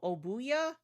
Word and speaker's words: Obuya: I think we might be giving more than just our Oh, Obuya. Okay, that's how you pronounce it.